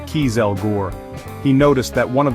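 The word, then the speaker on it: kieselguhr: Nobel was transporting cans of nitroglycerin packed in a type of absorbent fossilrich clay called kieselore, pronounced kelgore.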